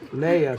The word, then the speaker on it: Leia: what's funny is that I couldn't really pronounce her name when I first met her. And the reason I began to remember her name was by the movie Star Wars. I started saying Princess Leia.